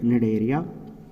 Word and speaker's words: Cnidaria: Here the C is absent, you should pronounce or read Cnidaria.